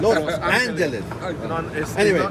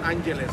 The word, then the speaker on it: Los Angeles: You gotta say Los Angeles. It's not Angeles.